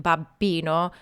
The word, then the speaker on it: babbino: life Sopranos beware no matter how much you try to pronounce that double b in Babino coaches will always tell you it's not enough so don't feel bad